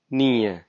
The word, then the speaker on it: nio: So now if you say 9, which is written as neo, but we say it nie.